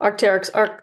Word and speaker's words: Arc'teryx: Am I pronouncing the name You did correct? it actually Okay, perfect. Arc'teryx, cool.